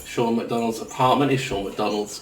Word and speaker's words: McDonald: McDonald's apartment is sure McDonald's correct correct pronunciation right just like the burgers and I'm going to